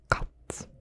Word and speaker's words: kat: So, first word is cat, which in Dutch is kat, kat, kat.